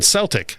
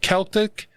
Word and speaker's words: Celtic: daft, and and then Russ pronouncing the hard C on Celtic. Think Boston Celtics or Tom Selleck.